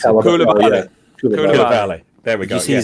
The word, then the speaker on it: Koulibaly: Craig, you try and pronounce it. Koulibaly.